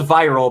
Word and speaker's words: Viral: You've got a character named Lord Genome and a character that's spelled viral but pronounced viral.